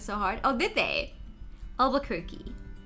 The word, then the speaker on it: Albuquerque: you pronounce that how why do you write it with a q-u-e twice and then you say albuquerque like it would rhyme with turkey what alba cookie alba